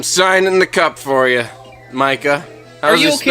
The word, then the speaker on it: Micah: the cup for you, Micah. Are you okay? How do you spell that? M-I-C-A-H, Micah. Micah. All right. Yeah, just think like a microphone, like a mic, but with an at the end, or like.